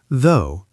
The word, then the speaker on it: though: Though, pronounced though. Long O.